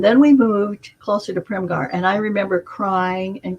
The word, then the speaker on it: Primghar: So I was in Primgar, Primghar. Got to tell that story because there's a silent H in there.